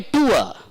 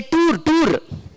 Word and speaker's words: tour: I went on a tour. We should not say tour. We say tour.